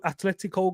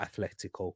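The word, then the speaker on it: Atlético: could make the final if Atletico go Atletico go through not Athletico cuz you know different Athletic Club um they're the ones that he actually pronounced with the th but because they I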